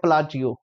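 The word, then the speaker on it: Palacios: Shiny प्लाचियो, इसको pronounce करते हैं प्लाचियो, ठीक है जी।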